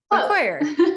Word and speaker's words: Faquir: Faquir.